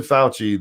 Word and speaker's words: Fauci: And it's like foul, like foul.